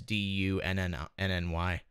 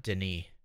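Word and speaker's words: D'ni: spell this age as D-U-N-N-Y. So in the later games it's actually spelled differently. It's spelled D''N-I, but it's still pronounced Dunny, no matter what. Like it's not Denis or something.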